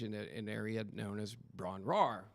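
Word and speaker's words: Bron-Yr-Aur: known as Bron RAR which I had mispronounced this before we decided to put a name on this I had mispronounced this easily for 30 years until I researched it and it's the why is silent so in my head I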